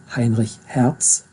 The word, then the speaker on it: Heinrich Hertz: I'm sorry, I pronounce it correctly, German now, Heinrich Hertz.